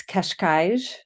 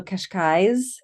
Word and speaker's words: Cascais: I think technically it's Cascais with two Mm-hmm. zhuzhes. I hear also Cascais with more Mm-hmm. of a Z kind of ending.